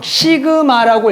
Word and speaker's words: 시그마: 읽을 때는 일명 시그마라고 읽어요.